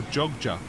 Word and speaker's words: Jogja: I'll see you in Yogyakarta or Jogja as the locals say they sell these moshi